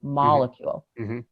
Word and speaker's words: molecule: this word molecule so the word molecule has the emphasis on that first syllable molecule but then all of a sudden we for no reason whatsoever we change the stress when we say molecular chemistry it's not molecule chemistry it's molecular chemistry that's true like how